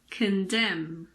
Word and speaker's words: condemn: this is very simple we don't pronounce n if it comes after M at the end of a word for example Autumn it's not autum it's just Autumn column condemn damn him what about the